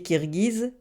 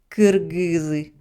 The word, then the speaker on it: Кыргыз: Les Kirghizes, ça se prononce en russe Kirghiz. Mais les Kirghizes insistent pour que les Russes prononcent leur nom correctement Kyrgyz.